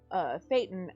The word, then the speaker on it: thetan: And it's Thetan, and I can remember that now because a